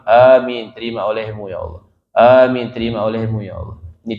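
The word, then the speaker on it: آمين: Kemudian hendaknya dia mengatakan setelah doanya amin. Kita baca amin. Amin. Apa erti amin? Ni cara baca amin panjangin a dua harakat. Amin. Jangan amin. Sudah aman jadinya.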